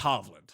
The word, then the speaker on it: Hovland: How do you pronounce it? Because I never do it. I believe it's Hovland.